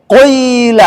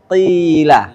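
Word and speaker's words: قيل: Kemudian yang kasrah qila enggak boleh qila. Ah tidak boleh ya. Harus bacanya qila.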